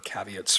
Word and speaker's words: caveats: mentioned and there were certainly some Cavit there with uh or caveats sorry I mispronounce that all the time um with